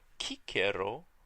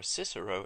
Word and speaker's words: Cicero: Our first author, Cicero, or Cicero in English, would have used the pronunciation we call the restored pronunciation. We are restoring the pronunciation that Cicero and people who lived around his time used.